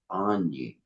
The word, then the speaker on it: AYNI: He went to a page, and AYNI is pronounced Anyi.